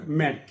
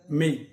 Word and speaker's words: make: এবার আসি MAKE, আমরা বলতে পারি ম্যাক, এটা ম্যাক না, এর প্রনাউন্সিয়েশন হবে মেক, মেক।